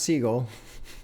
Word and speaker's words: Siegel: though, is Kenny Siegel, who I guess is pronounced Siegel. I was correcting myself the whole time, so much so that now I call him Kenny Seagal on purpose, and now I got to correct myself again half the time.